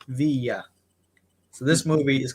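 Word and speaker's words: Viy: Some people pronounce this movie Vi. Some people pronounce it V. But in the movie, they clearly say Via.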